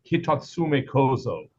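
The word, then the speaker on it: Hitotsume-kozō: Yeah, there is I believe, and Nijineko, who speaks Japanese, will probably correct me, but I believe it is Hitatsume Kozo.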